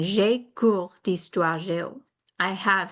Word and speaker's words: j'ai: So listen to the difference in pronunciation between je and j'ai. Je, like in je suis américaine. J'ai, like in j'ai un cours de français.